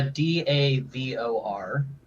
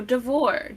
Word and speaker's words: Davor: somewhere that's perhaps not the Overlook as uh davor suggested are you still your name uh d a v o r okay I thought so there the Y is silent there's a y no it's silent when